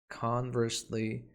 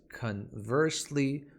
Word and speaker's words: conversely: other hand nevertheless nonetheless conversely in contrast this one has two pronunciations conversely or conversely both are common the first word in